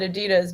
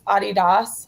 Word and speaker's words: Adidas: visiting Adidas HQ of course we call it Adidas but in Europe like the pro the actual pronunciation this is the first thing I learned it's Adidas but it sounds so strange um I've heard